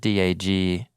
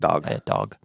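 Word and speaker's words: דג: With an A sound, which I guess if you spelled it D-A-G in English, you would say, dag. Want to say dag. That's not. It's pronounced dog.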